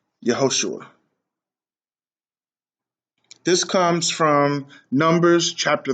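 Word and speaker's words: יְהוֹשֻׁעַ: this wrong and you've heard all kinds of pronunciations from yahashi to yahushua to yeshua yahawa i'm just yeshaya i mean there's just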